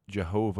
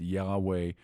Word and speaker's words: Yahweh: that's an English transliteration that is the name Jehovah or pronounced Yahweh or rather than say it uh you'll hear